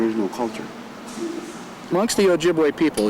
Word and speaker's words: Ojibwe: Ojibwe is the proper pronunciation of the word. Chippewa was kind of mispronounced by the government, and that's how it's officially recognized.